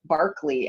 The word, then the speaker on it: Berkeley: then we'll go to berkeley which or barkley as it's pronounced by folks who live there um which is indeed